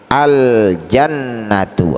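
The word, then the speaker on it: الجنة: ini termasuk huruf qamariah maka alif lam tarifnya dibaca dengan jelas cara membacanya adalah dengan bacaan yang jelas aljannatu artinya sore surga selanjutnya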